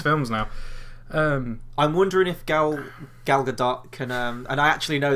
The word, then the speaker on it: Gal Gadot: I'm wondering if Gal Gadot can, and I actually know that's how you pronounce her name now, because I watched an